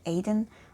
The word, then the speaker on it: Etain: I also heard the pronunciation Aiden or Etain, but I think Etain sounds most correct to my ears at least. But if you happen to